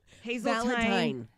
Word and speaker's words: Hazeltine: starting at Hazeltine Theater. Fine. Sorry, thank you. Hazeltine. Valentine. And I usually spell it with a Y to remind myself, and Oh, I didn't.